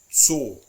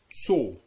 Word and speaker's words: Zoo: It is always pronounced like a TS sound, like a T. It's actually a plosive sound. T. One perfect example is Zoo, der Zoo.